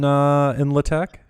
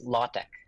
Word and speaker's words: LaTeX: Did you build this in LaTeX?